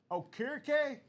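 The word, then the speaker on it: Okereke: Okier. Yep. All right. Bobby Okoo from the New York Giants.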